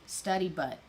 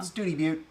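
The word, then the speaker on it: Study Butte: I think it's study butt. Well, no, Study Butt is what you say if you're not from Texas. Oh. Studi Butte.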